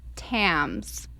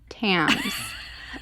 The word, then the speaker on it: Thames: One's just in, and I learned how to pronounce the river. It's the river Thames, like tampon, Thames.